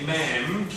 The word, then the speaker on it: ma'am: So we can say ma'am rhymes with ham.